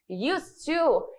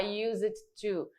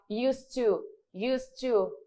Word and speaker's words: used to: Como verbo, ele vai ser pronunciado, mas aqui nessa questão eu não vou pronunciar ele, eu não vou falar used to, tá? Eu vou falar used to. Esse dele fica mudo.